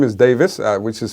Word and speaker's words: Davies: So, you can uh My first name is Davis, which is spelled D A V I E S.